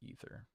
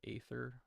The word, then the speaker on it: aether: Oh, it is definitely not pronounced ether. It is definitely pronounced aether when it's an A and an E like that. That's like Scandinavian, bro.